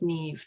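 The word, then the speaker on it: Niamh: can Google her but it's pronounced Neve to rhyme with sleeve and I have embedded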